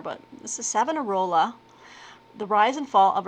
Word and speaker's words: Savonarola: I mean, it just sounds like you just sound it out. Savonarola. I'm probably missing an inflection somewhere, but this is Savonarola, The Rise and Fall of a Renaissance Prophet by Donald Weinstein.